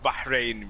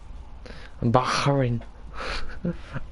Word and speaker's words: Bahrain: You know, it's like you burnt your hand, and you're running for cold water, and there's probably something in your throat, so you're like Bahrain. No, it's not like KH, it's not it's Bahrain. No. Not a you don't have to say it's Bahrain.